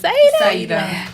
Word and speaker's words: Saidah: And I love how she pronounces her name, Saidah. I did it right? You said it Saidah. perfect. Saidah. I love it. I thought it was Saidah at first until I heard your song.